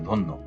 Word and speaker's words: ধন্য: ধ এর সাথে অ আছে। অ এর পরে জফলা আছে। এজন্য অটা ও হয়েছে। ধন্য।